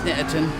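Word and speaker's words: Snetterton: two alton and snatterton that sounds so weird saying snatched him and pronouncing all the t's you normally just hear it pronounced snatterton with bentley the hell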